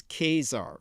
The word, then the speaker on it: Caesar: Caesar's death and remember the correct Latin pronunciation is Kazar from which we get the word Kaiser the Roman Calendar was